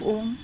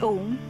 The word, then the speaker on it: Om: This universal sound is a combination of three syllables, A, U, and Ma. When we pronounce Om, as we say A, the lower portions of the body, up to the stomach, are activated.